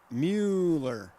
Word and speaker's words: Mueller: I got to pronounce that right. Mueller.